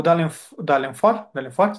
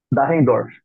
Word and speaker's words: Dahrendorf: O Dalenfort, que se pronuncia? Dahrendorf. Dahrendorf, perdão, que meu alemão tá meio destravado.